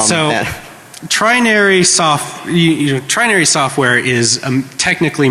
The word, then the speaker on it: Trinary: It's TRINARY, Trinary, like 3 naries. All right, so Trinary Trinary software is a